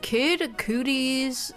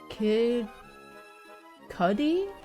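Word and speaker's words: Kid Cudi: If kid cooties um there's no way I'm pronouncing that right. Kid cootie. How do you How do you pronounce kid? H how to pronounce kid cudy? Kid cuddy. Oh, kid cuddy.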